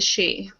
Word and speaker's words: Sidhe: He is a she. It's Sidhe. It's spelled. It's just pronounced she because I believe it's Gaelic.